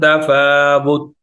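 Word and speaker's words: تفاوت: यहां पर हम वक्फ करेंगे मिन तफावुत, ना कलकला करेंगे, ना हम वाव को लंबा करेंगे, ना ही ता की हरकत को हम पढ़ेंगे। ता को हमने साइलेंट कर देना है।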